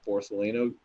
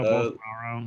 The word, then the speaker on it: Bolsonaro: I think Borsalino like used it, and he definitely got it twice. Like, who's that? Borsalino. Oh, Bolsonaro.